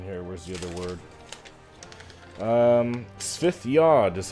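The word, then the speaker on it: Svith-yod: Svithyod is how you say this. Svith, S-V-I-T-H hyphen Y-O-D. Svithyod. That's the proper pronunciation.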